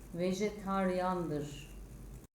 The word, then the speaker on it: vejetaryen: olan kelimenin okunuşu itibarıyle yazılışı vejetaryen olan kelimenin okunuşu vejetaryan yazılışı mağaza olan kelimenin